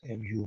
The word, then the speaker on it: mu: in this case we use mu mu is pronounced mu mu and is the mean of all values